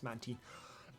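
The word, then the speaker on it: Mantine: the official pronoun stuff so it's yes it's manty um that app sounds horrifying I don't want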